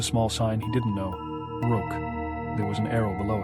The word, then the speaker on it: Roque: "It's pronounced Roque," Daddy was saying.